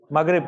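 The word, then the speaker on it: Maghreb: सबसे पहले मगरेब reason, मगरेब correct pronunciation ना।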